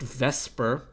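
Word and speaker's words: VSEPR: pair repulsion theory which for whatever reason is pronounced vesper even though it is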